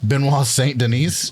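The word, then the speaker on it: Benoît Saint-Denis: Matt frola and versus um the French dude benois St Denise yeah dude that was a good job you actually pronounced it right wow just because of Chris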